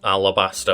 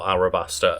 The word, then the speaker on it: Alabaster: so like, you know, both the westernized pronunciation and the Japanese one are considered to be acceptable. You know, in this case, like Alabaster or Arabaster are both considered like okay to say.